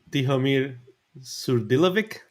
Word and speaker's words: Tihomir Surdilovic: And Tihomir Surdilovic. Yeah, nice. Yeah. Is it correctly? Yeah, you got it.